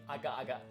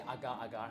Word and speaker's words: agak-agak: It's actually like the Malay agak-agak. Oh. But a lot of people get it wrong. They say agar-agar.